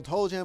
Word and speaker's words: Toll Jam: I like to spell it out when I when I'm doing my intros because like it sounds like to jam, but it's like toll jam, like to O L.